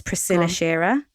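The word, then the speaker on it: Priscilla Shirer: absolutely loveen love it I think I pronounced her name right as Priscilla Sher prisilla Sher yeah is that right yeah okay great so she so I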